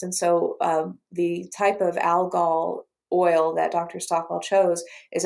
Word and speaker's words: algal oil: It's algal oil, actually, is how it's pronounced.